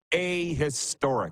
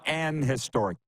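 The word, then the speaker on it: a historic: It's pronounced ahistoric. Right, Clark? Is that what we said? Ahistoric, not an historic. I looked it up. Both are acceptable, but the formal English is ahistoric collapse.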